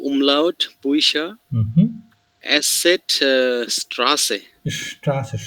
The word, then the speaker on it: Straße: Straße, শ না, যে প্রথমে আছে তারপরে কনসোনেন্ট, তাহলে শ, Straße, Straße, Straße।